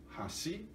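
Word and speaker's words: 橋: Mas se for falado, pronunciado, ponte e hashi, grave, agudo, hashi. E pauzinho é hashi. E agudo, grave, hashi. E ponte, hashi. E pauzinho, hashi.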